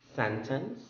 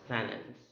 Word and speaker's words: sentence: Next is sentence or sentence. Sentence, sentence. Well, the second pronunciation, the one with the silent T, is actually being adapted from my training there.